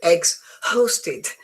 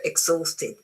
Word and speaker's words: exhausted: The H in this word is silent. Is it true or false? It is true. It's exhausted. Again, you can't say exhausted, so you go exhausted.